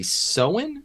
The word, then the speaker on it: Soen: Honey Dijon's album, Black Girl Magic, Roixop's Profound Mysteries 3, and the Soen, is that how you pronounce his name? S-O-E-N?